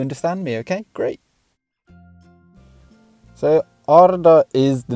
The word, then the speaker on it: Arda: So yes, it is Arda in Sindarin and in Quenya. I won't get too into it, but you do roll the R's. This isn't a class in pronunciation. Equally, I might say Arda myself as well, because speaking English, you tend not to roll R's, so it feels very odd.